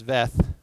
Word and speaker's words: Veith: of vocation, like Gene Veith, or I guess it's Veth, I learned earlier today is how you say it.